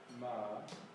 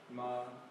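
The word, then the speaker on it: 妈: And pronunciation is? Ma.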